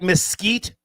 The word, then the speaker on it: Mesquite: Did I pronounce that right? Mesquite, Texas?